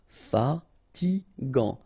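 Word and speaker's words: fatigue: So it's g final t not pronounced. Fatig fatig mush don't insist on the final h then you get the last sound is shh mush antipatic.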